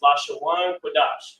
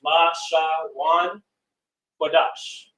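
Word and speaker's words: לשון קודש: in the scriptures, but Holy Tongue is what it is referred to, and that is pronounced Lashawan Kodash. Lashawan Kodash, the Holy Tongue.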